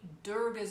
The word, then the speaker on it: Durga: teachers to always say Durga's name properly. I used to say Durga because that's kind of the Western way to say her name. It's spelled D-U-R-G-A. But they said, no, not Durga, Durga, Durga.